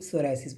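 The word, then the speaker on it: psoriasis: playing हम सरा बोल लेकिन इसका इंग्लिश में प से शुरू होता है प से शुरू होता है लेकिन प साइलेंट रहता है तो सोरायसिस बोलता है पप्पी लगा के सोरायसिस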